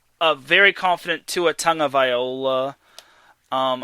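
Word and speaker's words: Tagovailoa: very confident to a Tong of Viola um I think that's how his name is pronounced Tong of Viola Tang tongola I think it's I think it's pronounced Tong of Viola either way the Chargers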